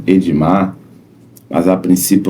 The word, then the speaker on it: Ademar: Até porque se escreve de um jeito, mas se fala de outro. O nome dele inscrito, né, é Ademar, né? Ademar Lopes, e o nome falado aí é Edmar Lopes, né?